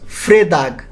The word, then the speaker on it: Fredag: Friday is Fredag.